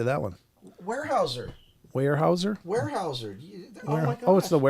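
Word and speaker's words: Weyerhaeuser: Warehouser.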